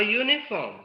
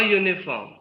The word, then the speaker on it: uniform: form a university a uniform because the sound is a consonant sound at the beginning you yeah yeah so the Y sound is coming that's why it is